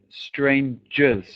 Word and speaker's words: strangers: Pronunciation of this word is strangers. Strangers, a j sound, okay?